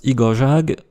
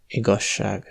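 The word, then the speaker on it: igazság: On pourrait penser que le mot pour « vérité » se prononce , mais la prononciation correcte est en fait , parce que le mot est composé de igaz (vrai) avec le suffixe -ság.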